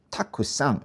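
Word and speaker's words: たくさん: 요거를 발음할 때 어떤 분들은이 쿠를 마치 타의 받침처럼 거의 탁상 쿠가 잘 안 들리게도 발음하는 경우가 있고 어떤 분들은 이게 탁크쌍 쿠를 아주 명확하게 그렇게 하는 분들도 있어요. 쿠가 조금은 들리는듯한 그런 느낌으로 하는게 제일 정확하겠죠.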